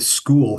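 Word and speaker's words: Skhul: and then the the school cave and it's spelled SK hu l so it's a little confusing I'm I'm going to try to say school whenever I'm referring to the fossils from this cave and it talks about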